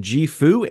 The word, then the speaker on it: JIFU: The company is called JIFU and that is pronounced JIFU.